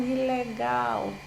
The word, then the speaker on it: ilegal: Como, por exemplo, a palavra ilegal. Né? Sabemos que a sílaba tônica, né, é a última, mas ao pronunciar essa palavra num determinado contexto, para enfatizar, para destacar, é muito comum que seja a primeira, é ilegal, né? E não ilegal.